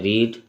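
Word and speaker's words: read: यहाँ पे ऑप्शन है रीड, रीडिंग और रीड्स। यहाँ पर ये रीड नहीं है, रेड है, इसको प्रोनाउंसिएशन में रेड बोलेंगे, लेकिन इसको स्पेलिंग में रीड।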